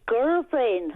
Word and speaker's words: Govan: Tell me how to pronounce that, Heather. It's Govan.